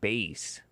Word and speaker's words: Bass: Black Gun Silver Star explicitly clarify his name is pronounced like Bass and so Dar said white people could be wrong too.